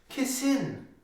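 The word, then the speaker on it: Kisin: He just wanted to correct us on the pronunciation and say it's Kassin. Kassin. That's how you say the name, Kassin.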